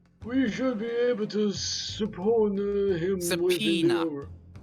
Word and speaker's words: subpoena: If the gentleman is at London's communication station, I mean, we should be able to subpoena him within the Subpoena. hour. Yes, it's spelled awkwardly, but it's subpoena.